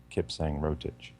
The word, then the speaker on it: Kipsang Rotich: And Kipsang Rotich, you pronounce that Kipsang Rotich.